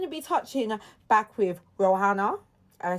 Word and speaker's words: Rowenna: So we're going to be touching back with Rowenna. I say it right? Rowenna Davis, yeah.